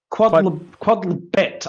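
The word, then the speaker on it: Quod Libet: Quodlibet, I believe it's pronounced. So it's a hard T. It's not Quodlibet.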